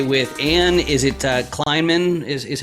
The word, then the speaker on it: Kleinman: i'm joined today with ann is it uh kleinman is is how you pronounce that all right very good excellent and